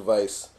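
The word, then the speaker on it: Weisz: okay the scenes with me look and Rachel Vice those scenes were like I was like oh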